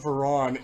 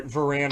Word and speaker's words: Varan: reminded me a lot of Veron or Varan Veron you'll hear me pronounce that both ways it it reminded me